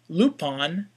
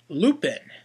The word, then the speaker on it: Lupin: zenaga and of course instead of pronouncing his name lupon lup's name is pronounced Lupin and of course my